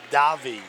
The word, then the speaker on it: Davey: As we said, Brett Redner of Butler Bloomingdale against Joey Davey of Mendham. I actually it's pronounced Davi.